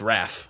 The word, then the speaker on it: Ralph: name, but I I don't think it's pronounced Ralph. I think it's Ralph. No, it's Raph. Yeah, it's Raph.